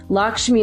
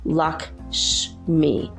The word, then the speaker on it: Lakshmi: the Tibetan tradition she's also called tommy'll tal Lakshmi is spelled Lak SH am I Lakshmi Lakshmi so she is the Hindu goddess of